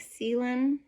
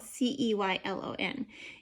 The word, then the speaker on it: Ceylon: Now, if you hear me say something like Ceylon, okay, because it's spelled C-E-Y-L-O-N, and I looked it up, and it says it's supposed to be Ceylon, something like that.